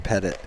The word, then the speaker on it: Pettit: brennan pettit yeah brennan pettit third baseman then pitcher for the green wave you got to put the uh the accent on the beginning part of that one stay tuned for a